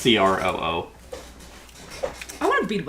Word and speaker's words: Croo: Oh, by the way, it's not crew like CREW. Mm-hmm. How would you think it's spelled? Is it crew like it looks like it's French? No, it's not CREUEUEU. No, I was thinking CRUIEOUX. No, it's CROO.